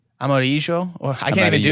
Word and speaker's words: amarillo: Well, both of those sound like a Y. Llena, and amarillo. No, but it's a double L. The way you spell it. Yeah. So they're both double L's, and they both do the Y sound, right?